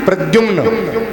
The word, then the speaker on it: प्रद्युम्न: है जोर से बोलो प्रद्युम्न pronunciation must be clear क्या नाम है प्रद्युम्न ये प्रद्युम जी कौन